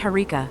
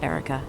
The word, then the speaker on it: Herika: But it's Harika, not Erica.